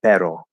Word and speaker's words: pero: that um you know obviously like the r right the tapped r so you say pero right now some english